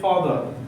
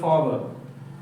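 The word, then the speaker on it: father: পিতা বা বাবা এটা হচ্ছে তোমার ফাদার এখানে উচ্চারণটা কি হয় ফাদার অর্থাৎ ভয়েলের পরে যদি আর থাকে তাহলে আর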